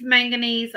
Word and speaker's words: manganese: It's manganese.